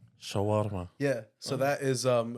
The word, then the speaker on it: Shawarma: and and whatnot definitely CH yeah did I pronounce it right uh Shawarma Shawarma yeah so that is um a traditional Middle